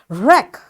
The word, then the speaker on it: wreck: tool you know so all these words are written with w but it's this w is silent over here y because all the